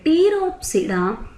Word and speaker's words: Pteropsida: Spinopsida, example is Equisetum and Pteropsida, example Dryopteris, Adiantum and Pteris. Once again the P is silent here.